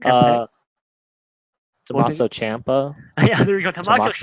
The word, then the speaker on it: Tommaso Ciampa: Uh, I can't pronounce it really. Tommy Macho. Can't put it. Uh, What's it? Tommaso Ciampa.